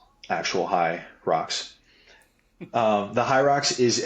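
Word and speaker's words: Hyrox: of you who are listening in i' um spell it out h y Rox not actual High rocks um the high rocks is a i' say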